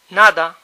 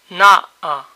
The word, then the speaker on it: nada: When People talk Fast the between vowels is weak or disappears alt together first example all to to May sound to o to tired cansado cansa o cansa Nothing nada na a na it could be